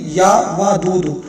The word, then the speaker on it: یا ودود: یا ودودو نہیں ہے، یا ودودو، واو کے اوپر زبر ہے، یا ودودو۔ میں آپ